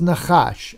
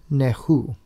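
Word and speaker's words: נחש: But clearly, right here, Nun Chet is Nachash. That's for serpent. They put a U vowel in there, right there, underneath the Chet, so that you would think it's pronounced Nehu rather than Nachash.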